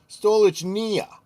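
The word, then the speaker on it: Stolichnaya: And he's trying to help me pronounce Stoli. It's Stolich. Stolich Nia.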